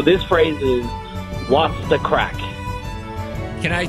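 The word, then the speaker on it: craic: like so it's actually the crack is spelled c-r-a-i-c and it just means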